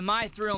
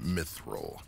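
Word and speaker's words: mythril: I don't get why they call this the my thrill minds. Not feeling the thrill. It's pronounced myithil.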